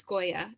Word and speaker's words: Skoya: And then this person was also curious about the name Skoya from Muse of Nightmares, and I don't know. I think I made that name up, but I just, in my mind, it's Skoya, and that's Nova and her sister's stepmother.